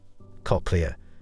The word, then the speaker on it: cochlea: Moving to next anneemonic cockia is the snail-shaped part of the ear. The part of this word rhymes with coke.